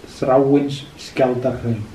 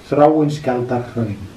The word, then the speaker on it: Þráinsskjaldarhraun: That is Þráinsskjaldarhraun. Þráinsskjaldarhraun. Þráinsskjaldarhraun.